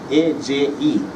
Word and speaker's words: AJE: But here comes a company from Peru called AJE, A-J-E. They pronounce J as A, Spanish. AJE.